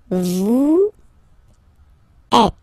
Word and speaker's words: êtes: Vous êtes. Same thing here. Notice that final S is not pronounced.